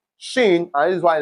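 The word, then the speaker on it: شين: And for the pronunciation t your tongue touches your upper teeth and for shin your tongue touches does not touch anywhere for shin it does not touch anywhere shin just shin that's it.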